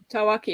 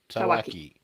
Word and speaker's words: Tawaki: How's my pronunciation? Tawaki is perfect. Yeah, Tawaki. So, or never Tawaki. It's a Tawak.